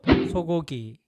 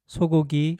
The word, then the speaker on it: 소고기: often find the word 소고기 on Korean menus. The first sound in 소고기 is similar to the English S sound, but the Korean S is pronounced much more softly than the English S.